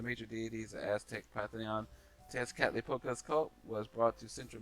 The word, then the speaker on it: Tezcatlipoca: It's actually pronounced the way it's spelled. Tezcatlipoca.